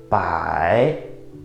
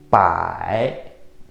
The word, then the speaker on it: 百: When you pronounce this third tone, it's a little bit tricky. Look at my head. It goes down first, then goes up. 百, 百, 百.